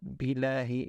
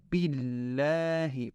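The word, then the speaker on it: بالله: And make sure to pronounce the shadda on the lam carefully. It's not billahi, it's billahi.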